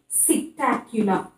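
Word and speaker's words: Psittacula: Then parrot, cetacula. Cetacula, P is silent, so cetacula is parrot.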